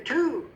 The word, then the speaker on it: two: If I said T-O-O, you would probably say two. I say yes, but this is the number 2, which has a W in the middle. So it's just pronounced two.